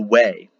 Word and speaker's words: Weg: not called the Bifrost, it's called the Way. Weg is how it's spelled, Uueg.